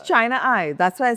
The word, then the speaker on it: Chinai: different ways except China I, which is how it's spelled, you know, Chennai. Right. It's Chennai. Right? Yes, it's China I. That's why I say China I.